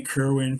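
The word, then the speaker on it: Kirwan: One belonged to Danny, I can't pronounce his last name, Danny Kerwin from Fleetwood Mac Oh Yeah, wow. yeah, Kerwin, that's right.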